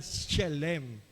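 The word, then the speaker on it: שלם: Yung Shalem do po, sa pagkalapas ng S, may H. 2 syllable yan. Shalem.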